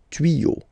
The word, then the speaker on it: tuyaux: You won't add S at the end, but instead of S, you will put X. Okay, des tuyaux. Same rule, you don't pronounce it.